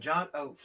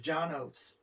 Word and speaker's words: Oates: know daryl hall and john oaks it was john oates daryl hall john oates yeah look what you did there correct you didn't even do it on purpose you just pronounce his name wrong okay favorite promotion yeah